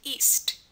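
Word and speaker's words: -iste: and this is pronounced east east um such as bukinist like a seller of books bukinist um i s t is pronounced East at the ends of French words and again means one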